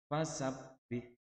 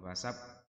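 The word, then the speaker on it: فسبّح: Fasabbih, fasabbih, bukan fasab, bukan begitu. Fasab ditekan doang.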